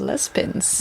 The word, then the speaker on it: Juan-les-Pins: no hard to pronounce it's spelled jua n like Juan in Spanish yeah and then l s and then pins p i ns Les pins and we I remember